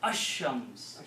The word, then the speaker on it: الشَّمْس: Sheen kills the sound of lam. So you pronounce Ash-Shams. Okay.